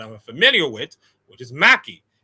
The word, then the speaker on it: Mhakey: M key without the H. Of course, the H is silent just like my first name.